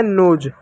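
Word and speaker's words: nose: एस का ज लिखेंगे। एस को स भी लिखते हैं, ज भी लिखते हैं। ठीक है? तो हो गया नोज।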